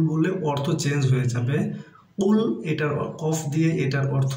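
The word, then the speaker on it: قُلْ: কুল বলি কুল বললে অর্থ চেঞ্জ হয়ে যাবে কুল এটার কফ দিয়ে এটার অর্থ হচ্ছে হে নবী আপনি বলুন আর কাফ দিয়ে যদি বলি কুল তাহলে এটার অর্থ হবে আপনি খান অর্থাৎ খাওয়ার কথা বলা হবে।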